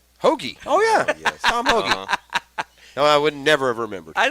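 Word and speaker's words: Hoge: they all win some his last name rhymes with one overpar on the whole bogy hogi oh yeah Tom hogi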